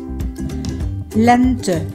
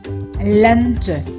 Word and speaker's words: lente: Lente. Lente. Lente. Lente. Đây là từ có hai âm tiết và được nhấn âm tiết đầu tiên len, cho nên chữ e